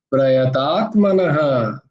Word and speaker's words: प्रयतात्मनः: তারপরে প্রযতাত্মন নয়, প্রয়তাত্মনঃ, প্রয়তাত্মনঃ, বিসর্গ নহ নয় কিন্তু, প্রয়তাত্মনঃ।